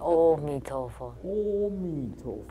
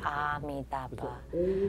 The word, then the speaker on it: Amitabha: But in the movies, the pronunciation was different. They always say "Oh Mi Tofo." They become "Oh." Actually, the correct way, the correct pronunciation is Amitabha, not Amitabha.